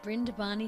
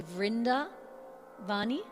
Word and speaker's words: Vrindavan: Brindavani Sarang. And actually, it's interesting. So B and V seem to be interchangeable. So you could say Vrindavani Sarang or Brindavani Sarang, and Brindavan or Vrindavan.